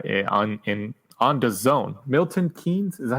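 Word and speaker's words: Milton Keynes: Marshall Arena uh on in on the Zone Milton keing is that how you say it Milton Kings yeah that's correct um on the Zone Joshua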